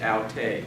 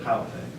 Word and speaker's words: Halte: You pronounced it aute, but Halte.